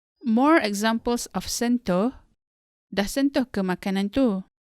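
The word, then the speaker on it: sentuh: to pronounce the word sento as in sentu the u here in the second syllable sounds more like o like in the word motif in english sento the next example is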